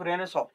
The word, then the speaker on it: Renaissance: रेनेसॉ या जिसे मैंने यहाँ पर ये स्पेलिंग में रेनेसांस लिखा जाता है बट इट इज रेनेसॉ.